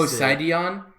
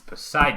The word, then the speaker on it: Poseidon: Poseidon? That is not how you pronounce that word. I think he is all of those, isn't he? It's Poseidon.